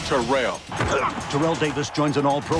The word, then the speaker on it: Terrell: of the two thousand yard club and it's pronounced terrell terrell davis joins an all-pro lineup on nfl